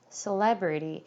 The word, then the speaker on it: celebrity: celebration 여기는 이제 강세가 2번 들어가는데 근데 요 단어 이 유명인사라는 단어는요. 세에다가 강세를 주는 게 아니라 레에다가 주셔야 돼요. 그래서 celebrity라고 발음이 돼요. celebrity.